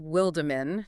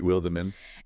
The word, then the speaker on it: Wildeman: And for you listening, that is pronounced Wildeman, just to be precise. Right, Wildeman.